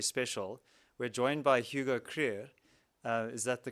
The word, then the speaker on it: Krüger: event is very special we're joined by Hugo krier uh is that the correct pronunciation career yeah um and uh here's South African born